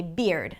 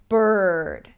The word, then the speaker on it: bird: is the word 'bird', Arabic speakers might say 'beard'. Now, 'beard' is a different word and spelled differently, right? So, we want to make sure that we're pronouncing it clearly and not phonetically. So, 'bird'. 'beard' - 'bird'. B - R, B - R.